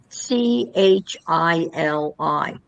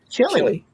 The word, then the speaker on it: Chili: Well, there's a place c h i l i Chili.